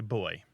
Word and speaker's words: buoy: all Americans say boo buoy and some say boy so it's just a it's just an American way of saying it and um it's probably an inheritance from history where we kept an older pronunciation of the word that they dropped that probably as simple as that okay I like to